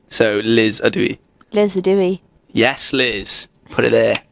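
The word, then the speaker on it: ydw i: Adui. Adui. So Liz Adui. Liz Adui.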